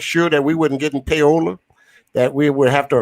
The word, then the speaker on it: payola: But one of those, we could not accept that money under the table because it was called PAYOLL, simply pronounced payola.